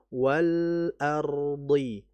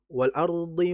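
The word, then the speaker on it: وَالْأَرْضِ: Maka dijelaskan lam mati dengan sifat tawas yaitu mengalir tidak terlalu lama. Wal ardhi. Wal ardhi. Jadi jangan jangan wal ardihi wa. Nah, itu terlalu cepat itu ya.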